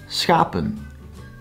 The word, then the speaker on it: schapen: The fourth and last one, schapen, consists out of two syllables, schapen. Here the vowel is written short, but the syllable does not end on the consonant, but on the vowel.